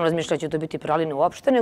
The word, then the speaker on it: praline: Da, da li je Pralina, Pralina i kako bi pravilno trebalo? U francuskom bi trebalo jeziku da se akcentuje Praline na posljednjem slogu. Međutim, kod nas u našem jeziku to nije slučaj.